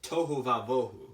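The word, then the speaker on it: תֹהוּ וָבֹהוּ: It's pronounced tohu vavohu, which means unordered and uninhabited.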